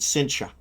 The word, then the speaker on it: Cynthia: It's spelled Cynthia, but they pronounce it Cynthia.